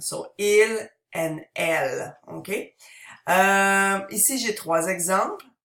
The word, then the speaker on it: elles: Notice that the S is silent at the end. So il and elle. Okay. Ici, j'ai trois exemples. Vous pouvez répéter. Je suis canadienne. Nous sommes étudiants. Et elles sont américaines.